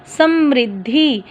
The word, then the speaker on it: समृद्धि: अब देखो म के पैर में री लगी है तो हम री बोलेंगे, समृद्धि। अगर र होता तो स्म्र, र और री का उच्चारण बड़े ध्यानपूर्वक करना पड़ता है।